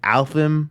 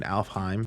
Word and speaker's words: Alfheim: up that Arc and she said it wrong she was like alpham or something like that I was like uh you mean you mean alfheim and she's like oh